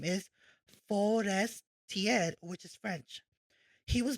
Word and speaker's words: Forestiere: Now who is Bald Sare Forestier pronounced as Bald Sare which is Italian origin and then his last name is forest tier which is French.